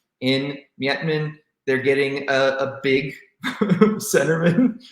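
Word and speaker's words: Miettinen: Julius Mietman.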